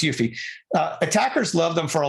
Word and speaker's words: UEFI: of attackers hitting the BIOS okay so uh yuffie boot kits it's pronounced yuffie attackers love them for a lot of reasons